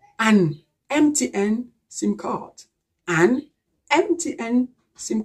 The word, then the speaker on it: MTN: sound this is why we should say an mtn sim card so this is it as far